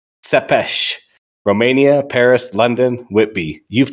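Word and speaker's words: Țepeș: Remember, it's pronounced Sepesh.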